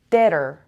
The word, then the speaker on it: debtor: B is silent here. I say deader.